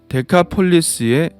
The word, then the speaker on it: 데카폴리스: 데가볼리는 데카폴리스의 우리식 발음인데요.